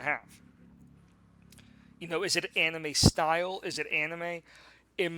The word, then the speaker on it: anime: I mean, if you want to get technical, it's not anime. It's anime. Okay.